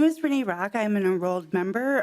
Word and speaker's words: Renee Rock: It is pronounced Renee Rock.